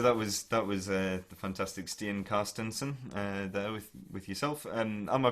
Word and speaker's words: Carstensen: So that was the fantastic Stian Carstensen there with yourself. Am I pronouncing that correctly? Carstensen.